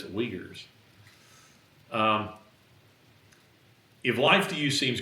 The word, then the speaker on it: Uyghurs: If life to you, it is a weird spelling. Phonetically, it's strange. When you said that, I just immediately thought of steak. Uyghurs is what it looks like, but it's Uyghurs.